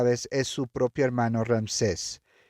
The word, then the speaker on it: Ramsés: Así que por al transcurso de la película vemos que Moisés y Rames o Ramsés, perdón, así se pronuncia, Moisés y Ramsés eh